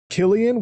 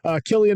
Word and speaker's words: Cillian: We have Killian, which I just learned today is how you're supposed to say his name. That's super cool. Cillian Murphy becomes Death, Destroyer of Worlds, to portray Oppenheimer.